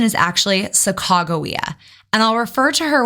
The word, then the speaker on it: Sacagawea: to correct some misinformation that's out there about Saka Jaa just in case you've heard it before I'm